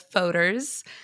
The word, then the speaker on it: Fodor's: I get all different pronunciations. So, it's Foders. Um, my mom says Fodors.